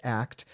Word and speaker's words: ACT: And so I do use acceptance and commitment therapy, which is pronounced ACT, in my applied behavior analysis interventions, and then also with my sex therapy clients.